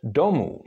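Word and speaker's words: domů: and it means house another example of long o which is written as a u scrm would be for example in the word domu meaning home as in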